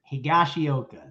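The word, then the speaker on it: Higashioka: both okay place too higashiyoka that that that sounds better than whatever i said i think you're correct there with that pronunciation uh let's head on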